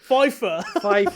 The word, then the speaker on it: FIFA: now fifa let's remake fifa remakes it has to be pronounced like that there's no acronym fifa fifa okay so okay